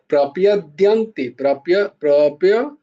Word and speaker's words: প্রপদ্যন্তে: মামেব, ইয়ে, মামেব ইয়ে প্রপদ্যন্তে, প্রপদ্যন্তে, প্রপদ্যন্তে, দিয়া প্রপদ্যন্তে, মামেব ইয়ে প্রপদ্যন্তে, দিয়া প্রপদ্যন্তে নয়, প্রপদ্যন্তে বলবে না কিন্তু, প্রপদ্যন্তে, সব জায়গায় এই জফলার উচ্চারণ গুলো হচ্ছে না, একটুখানি ওই দিকটা খেয়াল রাখতে হবে।